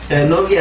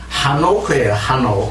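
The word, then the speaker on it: חנוך: 근데 에녹이 아니라 사실은 하노크예요. 하녹인데 어떻게 다 지금 에녹이라 이렇게 이제 되어 있는데. 그러니까 저게 그 뭡니까 저게 H 발음을 빼버리는 것만은 저게 해녹도 그렇고 저게 아벨도 그렇고 네. 헤벨 하는데 그것도 H 빼버려 아벨하고 근데 하노크, 에노크는 뜻이 봉헌하다 이런 뜻입니다.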